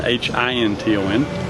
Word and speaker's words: Hinton: Wandering through life one day, and I opened the mail, and there was this letter from Audrey Hinton, Hinton. Same pronunciation, a little different spelling.